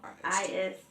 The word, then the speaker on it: Taoist: actually research Taoist erotic massage. It's spelled Toaist. It's T-A-O. Taoist.